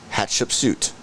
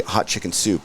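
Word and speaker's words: Hatshepsut: this this one uh this temple is called hatch-up suit okay i'll take your word for it they also call it hot like for americans that don't are are not able to pronounce hot chip suit they say hot chicken soup and then you'll be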